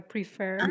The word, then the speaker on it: prefer: stress on the I second syllable. Yes, I prefer.